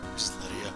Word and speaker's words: Lydia: Lydia? Lydia? Just Lydia.